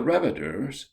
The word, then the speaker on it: Reviter: The Reviters, pronounced Reviter with the accent on the first syllable, were entertaining at tea